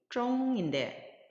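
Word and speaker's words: 中: 이 중국 할 때 중자 역시 자음과 자음에 해당하는 성모와 모음에 해당하는 운모가 결합해서 쫑이라는 발음을 형성하였고 거기 위에 일성 성조 표시가 되어 있으니까 일성으로 발음을 하면 쫑 이렇게 발음하시면 되겠습니다.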